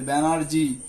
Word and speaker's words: ব্যানার্জি: হর্ষস্বর চিহ্ন কি কি হবে দেখো, ব্যানার্জি, ব্যানার্জি বলার সময় আমরা রস্বীকার না বলে দীর্ঘিকার বলে ফেলি, ব্যানার্জি। হ্যাঁ, ব্যানার্জি নয় কিন্তু আসলে উচ্চারণ হবে ব্যানার্জি।